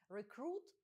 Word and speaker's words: recruit: Воно вимовляється з наголосом на другий склад. Recruit – це новобранець.